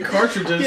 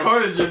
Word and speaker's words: cartridges: what you just said he's still not saying cartridges out of my he's saying cartriges all the time what's that cage I'm sorry that's just how I pronounce it all right so C internet R because I was he's from gree so he's got an accent cartriges cartridges yeah I'll wrong every time